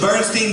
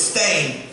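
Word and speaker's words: Berenstain: How do you spell it? B-R-E-N-S-T-E-I-N, correct? Right? Yeah. No, it's Stain. I swear to God. We actually dug up my old books and they all said Stain.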